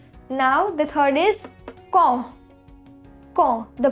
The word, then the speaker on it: quand: Quand. The pronunciation is quand, which means when.